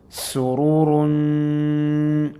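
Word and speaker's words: سُرُورٌ: Sururun. Again, this will be pronounced as ikhfa because we have a seen afterwards.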